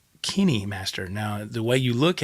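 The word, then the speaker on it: KineMaster: an app that that I use it's called Kinney Master now the way you look at it it doesn't seem like it'd be pronounced that way I thought it was kind Master but it's spelled k-i-n-e master and it's all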